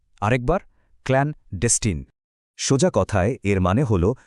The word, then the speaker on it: clandestine: চলুন আমার সাথে উচ্চারণটা চেষ্টা করি। বলুন তো ক্লানডেস্টিন। আরেকবার ক্লানডেস্টিন।